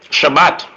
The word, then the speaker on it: Shabbat: So, okay, so when you say rest in Hebrew, how do you pronounce it in Hebrew? Shabbat.